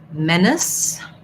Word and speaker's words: menace: So if something is a menace, so first syllable stress in menace, it's actually similar to the word men. It has the red tent vowel. So you can think about a word like red to match that vowel sound.